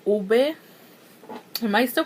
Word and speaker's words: ube: I'm like on the last video I uploaded, and you guys were telling me that oob is not pronounced oob, it's pronounced like ube.